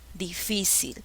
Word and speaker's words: difícil: mayor fuerza de voz voy a probar con cada una difícil no se pronuncia difícil difícil a esto suena mejor difícil no tampoco es difícil cuál es la sílaba que lleva la mayor fuerza de voz la sílaba si es la sílaba que lleva